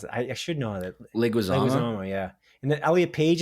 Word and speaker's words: Leguizamo: Oh man, how do you pronounce it? I should know that. Leguizamo, yeah.